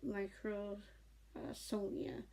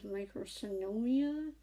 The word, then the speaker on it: microsomia: They're known as Goldenhar syndrome and microsomia. I used to think it was microsynomia. I don't know why. So just recently realized the actual name. So I'm just trying to remember to pronounce it correctly.